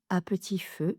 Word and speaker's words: à petit feu: petit feu, il dépérit à petit feu, cela signifie petit à petit, il décline. Il dépérit à petit feu. Donc, à petit feu. Même chose, trois syllabes, à p petit feu, à p à p petit feu.